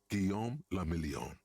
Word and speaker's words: Guillaume le Million: Guillaume le Million, If it doesn't rhyme, you're not pronouncing it right.